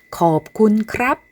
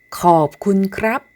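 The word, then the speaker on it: ขอบคุณครับ: 태국어로 감사의 인사를 할 때는 겁군 크랍, 겁군 카라고 말하면 돼요. 다시 한번 발음해 볼까요? 겁군 크랍, 겁군 카.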